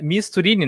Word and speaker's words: Misturini: com um convidado especial aí, o professor Misturini, que é Misturini, né? Esse, tá certo a pronúncia?